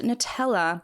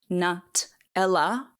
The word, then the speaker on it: Nutella: I pronounced Nutella like an Aussie bogan, Nut-ella, and not with the Italian flair of Sevilla Loren.